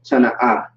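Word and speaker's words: טנא: That's how you pronounce it. Tana'a.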